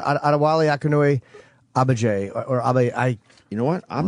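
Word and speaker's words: Adewale Akinnuoye-Agbaje: No, I think I want to say the G is going to be sounded Adewale Akinnuoye Agbaje.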